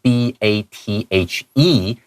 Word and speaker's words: bathe: 这边要特别注意一下这个 bathing，因为这个字的话本来是 B-A-T-H-E，它是动词的话，它念成 bathe。但如果说今天把那个 e 去掉，它会变成名词，就会念成 bath。好，这两个字的话，其实它的变化其实蛮多。到后面你还有机会看到 bath 这个字，所以你看这个地方的话是念成 bathing device。好